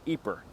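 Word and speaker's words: Ieper: to find it spelled i e p r pronounced eer of course the British who fought here didn't use either name they called it wipers eer is best remembered today as the town around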